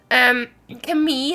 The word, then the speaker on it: Camille: Hi, the pronunciation of my name is Camille, like in the French way. How are you? Oh, Camille. Or Camille, I think.